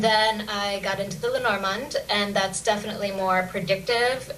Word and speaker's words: Lenormand: I guess, I say Lenormand, or you would say it with sort of a softer D if you were French, okay.